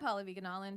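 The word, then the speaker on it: Pallavi Gunalan: I'm Paula Viganalin, PALLAVIGUNALAN. I'm Zara Ali. It's really Zara on all the things. Zara is spelled Zahra.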